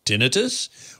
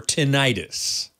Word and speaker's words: tinnitus: cheap alan gabriel yes tinnitus can be pronounced one of two ways and they're both correct tinnitus or tinnitus uh and for the